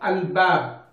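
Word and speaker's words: الباب: Okay, so for example, bab, al-bab, you have to pronounce lam. Okay, but if it is ta, okay, for example, at-ta'am, at-ta'am, lam and ta are close, so that is sunlight.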